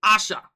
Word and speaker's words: Aisha: english you know but it's actually asha asha so completely cutting out the eye and go for asha instead and for her i